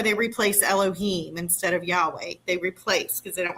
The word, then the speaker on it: Yahweh: Here it explicitly says explicitly that the eternal name of the creator is Yhovah pronounced by uh Yahweh. You could say Yahweh.